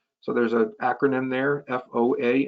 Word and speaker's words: FOA: there's a acronym there f-o-a and that's pronounced foa so the follow is